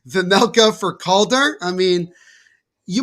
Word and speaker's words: Vejmelka: was kicked aside by Vemeka. Excuse me, I'm going to say that name wrong. So many runs. Vemelka for Melka. That's what it is.